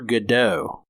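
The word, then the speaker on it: Gadot: to he is reading waiting for gdau and I think that that's supposed to be a nod to how you're supposed to pronounce her last name that's I've always said it gdau but I keep hearing it gdat lately but anyways um her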